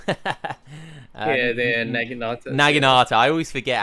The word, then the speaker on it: Naginata: I can never pronounce that name. Yeah, they're Naginata.